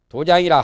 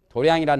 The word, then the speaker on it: 도량: 장소를 마련하는 것이 도장이에요 도장을 도장이라 하기도 하고 도량이라 하기도 하고 발음이 정자인데 불교에서는 도량이라 말을 많이 하지요 도량성당 수도 도량이라고 하지요